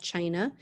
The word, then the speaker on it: Qin: qin empire emperor of china so the first dynasty is the qin dynasty spelled with a q because the first emperor chin united china and these